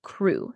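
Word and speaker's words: cru: top of our pyramid these are called bjal crew CR you and some say that these have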